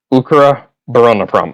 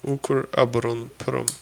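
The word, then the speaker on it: Укроборонпром: Ukraon prom. Okay. Urker aberon is aberona defense and prom is industry. So ukar abberon prom. It's three worlds.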